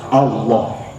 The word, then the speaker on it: Allah: Kalau dalam bahasa Arab lam itu la bukan loh. Hanya satu kata yang la diucapkan loh yaitu Allah.